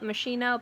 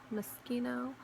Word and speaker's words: Moschino: Please forgive me if I used to call it Moschino, but then it's Moschino.